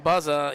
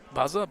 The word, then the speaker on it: Buzza: For Central Clarion's Cullen Buzza, he's a senior at 5-4. I believe I pronounced that right. Buzza, B-U-Z-Z-A. That's the way they announced it over the mic or over the walkie-talkie there.